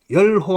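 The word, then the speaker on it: 說: 기쁘다 할 때는 열 의미상 자 어디 가서 남한테 자기 주장을 밝히다 할 때는 세, 그다음에 일반적 그냥 말을 할 때는 설이라고 세 가지로 읽는데 설보다는 여기서 기쁘다는 의미로 쓰였기 때문에 열이라고 읽어야 돼요.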